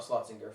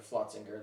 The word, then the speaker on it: Flotzinger: from flotsinger i'm sorry i did pronounce that brewery wrong not schlossinger flotzinger that was the one